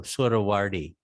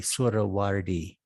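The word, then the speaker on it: Suhrawardi: Surawardi. S-U-H Sura, Hrawardi, Surawardi.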